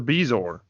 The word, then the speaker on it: bezoar: to find a Bazoar. See, that's what I always thought it was. It's a Bezoar.